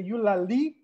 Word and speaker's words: Eulalie: And I'm trying to pronounce that with the Eulalie emphasis because my sister is a linguist. And she was like, the emphasis is on the li.